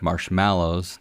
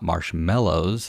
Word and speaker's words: marshmallows: Well, marshmallows, notice I said marshmallows, not marshmallows, as I hear it pronounced often, actually date back as